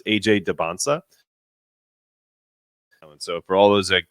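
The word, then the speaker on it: Dybantsa: I say my name the t is silent so it's AJ Debona so for all those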